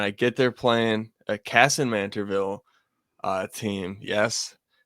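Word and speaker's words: Kasson-Mantorville: And I get they're playing a Cassin Manterville uh team. Yes. W pronunciation.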